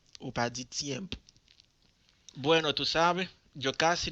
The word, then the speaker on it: tiempo: Le prononcer T, c'est langue entre dents et pour faire son sorti. Tiempo. Ou pas dit tiempo.